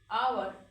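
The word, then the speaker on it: hour: पहले ए लगना चाहिए, लेकिन नहीं, यहाँ पे लगेगा वर्ड के साउंड के अनुसार, तो ये वर्ड है जो वॉवेल साउंड आ रहा, आवर, आवर, यहाँ पे भी लगेगा ए एन, ठीक है।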